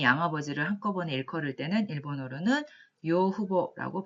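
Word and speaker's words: 養父母: 그리고 양부모님, 부모님 양쪽 다 양부모님, 일단 뭔가 양어머니, 양아버지를 한꺼번에 일컬을 때는 일본어로는 요후보라고 발음을 하시면 되겠습니다.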